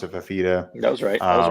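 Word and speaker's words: Fifita: I mean, Arizona, their offense is good, so they've got a freshman quarterback and Fafita. I'm terrible with names. I think that's how you pronounce it, Fafita.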